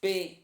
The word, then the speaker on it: Boynton: It's Boynton. How you pronounce that?